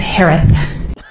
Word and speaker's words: Herath: how you pronounce it last name is pronounced like Harris with a lisp it's herath what the hell I'll say